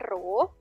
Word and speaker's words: rho: Maka persamaannya adalah P sama dengan P kecil, ini bacanya rho, simbol dari massa jenis, rho dikali G dikali dengan H.